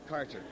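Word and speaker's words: Kärcher: How do you pronounce that? Karcher? Karcher.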